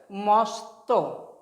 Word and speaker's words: মস্ত: Next দেখো ম, ম দন্তস্বয় ত, এটা উচ্চারণ কেন হবে মস্ত, মস্ত।